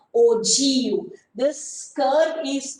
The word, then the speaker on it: ogive: g i v e how can you pronounce this one so we have to pronounce this one in the form of o g okay we have to pronounce this one in the form of ogu this curve is called